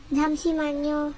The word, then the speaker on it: 잠시만요: 잠시만요.